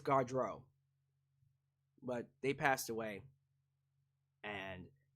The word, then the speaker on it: Gaudreau: Gaudreau? Did I say it right? I think it's Gaudreau.